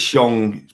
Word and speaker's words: Shang: Bobby says it's Shong, pronounced Shong.